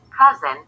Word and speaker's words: CuZn: Established in 1987, CuZn Water Systems Inc., pronounced CuZn, is a reputable water filtration company from Arkansas.